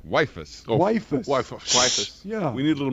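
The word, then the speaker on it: Weifus: it says wife us how do you spell that last name w-e-i-f-u-s waifus yeah we need a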